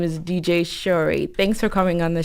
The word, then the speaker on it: Shoray: you start teaching ah my name is actually Cherie but it's not spelt like that it's just pronounced like that same blusher oh so